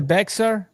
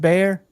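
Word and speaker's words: Bexar: Is that the Beexer? Is the It's pronounced Bayer.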